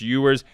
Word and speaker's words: Ewers: to the name and yes i'm pronouncing it correctly it's not edwards it's yours i believe yes that's right